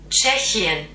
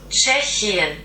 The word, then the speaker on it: Tschechien: Tschechien.